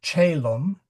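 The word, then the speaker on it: caelum: And it is soft in front of eetra. Uh we also say chaum which is c a e l u m. Uh so it is in soft in front of i's and e.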